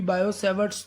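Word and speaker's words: Biot–Savart: Mind well, यहाँ पर T silent रखना होता है। इट is said to बी बायो-सैवर्ट्स लॉ।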